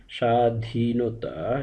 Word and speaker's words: স্বাধীনতা: দিয়ে উচ্চারণ করতে হয় অর্থাৎ শব্দের শুরুর বর্ণের সঙ্গে যদি ব ফলা যুক্ত থাকে তাহলে সেই ব ফলাটি বাদ দিয়ে উচ্চারণ করতে হয় যেমন স্বামী উচ্চারণ হবে স্বামী স্বাধীনতা স্বাধীনতা স্বাগত স্বাগত এভাবে ব ফলা বাদ